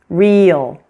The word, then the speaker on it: real: you hear those sounds, the l after it is going to almost add an extra syllable. For example, sale, real, while whole, school. As you can see, these words are written as one syllable, but pronounced is almost two when we say them slowly.